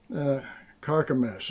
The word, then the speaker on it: Carchemish: river Euphrates, and I know this word, and Carchemish is what it is. That's how they pronounce it.